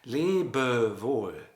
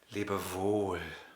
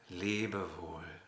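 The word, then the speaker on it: Lebewohl: wall is written l-e-b-e-w-o-h-l but the second syllable we pronounce differently we would never say les bervois we always swing back lee and it's up to you whether you decide and decide on saying libervous or to say libervul but never on the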